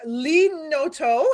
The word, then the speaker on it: Lee Noto: So my guest this evening is Lee Noto. Am I pronouncing that correct?